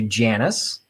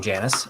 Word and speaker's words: Janice: beige plate went to janus mine art i apologize i was saying your name wrong janice uh but thank you